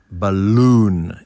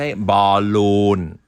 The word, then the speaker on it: balloon: o n ูน ครับ เรา จะ เน้น พยางค์ ที่ 2 ครับ บลูน อย่าง นี้ ครับ ไม่ ใช่ บาลูน อย่าง ที่ คน ไทย หลาย คน ก็ ออก เสียง นะ เอา เป็น Ballon ดี